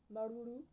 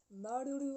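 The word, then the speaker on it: Māuruuru: Je vous dis merci, Marulu. Oui, alors oui, ça je le prononce bien maintenant, parce que j'ai eu un petit cours de tahitien improvisé.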